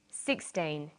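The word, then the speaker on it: sixteen: Usually the first syllable in a number is stressed. 16, 60.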